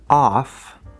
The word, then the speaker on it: of: But that vowel sound has to be a schwa sound. Very important. In the word off, it's that fifth vowel in the back, ah.